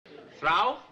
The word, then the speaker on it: through: Through? T-H-R-O-U-G-H is pronounced through.